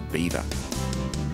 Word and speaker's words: Belvoir: belvoir meaning beautiful view the english didn't like the french association so they changed the pronunciation to beaver the surrounding countryside is